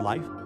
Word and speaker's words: 李: So family name is 李 Li, third tone.